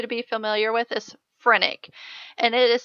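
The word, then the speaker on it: phrenic: I want you to be familiar with is frenic and it is spelled p HR e n n i that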